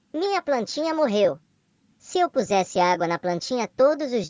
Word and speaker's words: pusesse: Eu pusesse, Você, ele, ela pusesse. Nós puséssemos. Vocês, eles, elas pusessem. Prestem atenção à pronúncia. Primeiro temos um som de Z. E depois um som de S. Então, eu pusesse.